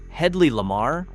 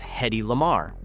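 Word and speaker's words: Hedley Lamarr: Brooks named the villain Hedley Lamar, played by Harvey Corman, which everyone in the film mispronounces as Hedi Lamar.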